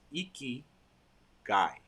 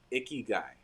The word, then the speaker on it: ikigai: it for you or I'll say the syllables iki guy so icky guy but iki uh basically